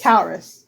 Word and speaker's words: Caurus: and I'm pretty sure I'm mispronouncing it, but Caurus is the north wind. Caurus. Caurus.